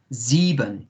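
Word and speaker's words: sieben: is good um remember in german the s is like a zed za zeeban yeah and zebun is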